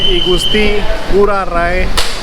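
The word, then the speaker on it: I Gusti Ngurah Rai: I have reached Igusti Ngurah Rai International Airport, Trust me, this is the correct pronunciation.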